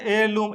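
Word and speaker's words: heirloom: यहां क्या कहते हैं? एयर लम। एयर की आवाज आ रही है इसमें।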